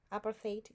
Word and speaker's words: apartheid: is it Apple apartheid appartheid is how you pronounce it anyways after fade weight oh